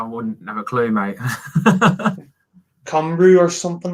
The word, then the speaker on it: Cymru: And it's pronounced Cymru.